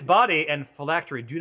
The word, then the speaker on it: phylactery: this dyslexic i never can pronounce this right p h y l a c t or y phylactory yep that's it okay i guess i